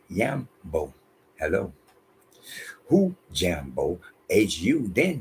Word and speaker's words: Jambo: Because one more time, in Kiswahili, the J is a Y in the beginning of a name, place, so on and so forth. In the middle, if I say Jambo, I'm supposed to say Yambo.